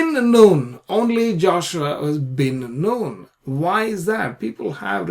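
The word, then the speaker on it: Bin Nun: thing about him is that he is called bin noon bin noon not Ben non if you actually look at the all the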